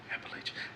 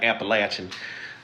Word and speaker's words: Appalachian: into the um the Appalach, let me say it right. Appalachian Appalachian Mountains. She'll beat me up cuz that's where she's from. I hope I said it right. Not Appalachin, whatever it is.